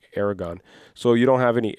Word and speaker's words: Aragorn: Cuz it's spelled Aragorn, but they say Aragon.